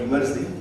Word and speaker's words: Emertxe: So the way we pronounce it, the word Emertxe. If you want to remember it easily, you just say, take the word extreme, make it right to left or a palindrome, you get this word, right?